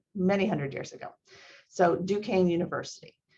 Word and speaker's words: Duquesne: previous studies questions about duquesne why did you choose duquesne and i i put in there how we pronounce it it's a french word it has to do